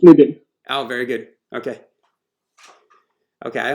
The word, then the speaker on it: Nidhin: He's having some audio issues, but it bugs me to no end to mispronounce someone's name. Can you guys help me? Is it Nadine or Nidin?